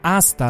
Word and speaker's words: hasta: I teraz już poprawiam się, hasta la vista, nie hasta. Po hiszpańsku nie czyta się H na początku.